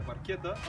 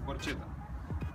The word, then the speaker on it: Barchetta: Името Barchetta също идва от италиански, означава малка лодка и точно понеже идва от италиански, това е причината произношението да е Barchetta, а много хора да го бъркат с Barchetta.